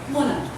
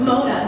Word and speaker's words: Mona: They could say, Muna. Muna. See, it's easy. White people, Muna. It's easy. It's not Mona.